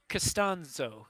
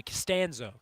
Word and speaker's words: Castano: number 25 J D castano or excuse me castano had to make sure I get that pronunciation right before the game here's